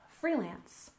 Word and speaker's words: freelance: first off we have freelance we stress the first syllable freelance freelance and this is when